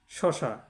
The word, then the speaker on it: শসা: অর্থগুলো কিন্তু আলাদা আলাদা এবার দেখুন শসা শসা একটা ফল বিশেষ আবার শসা এটা হচ্ছে ভগিনী হুম তাহলে এক শসা হচ্ছে ফল বিশেষ আরেক শসা হচ্ছে ভগিনী এখানে দন্ত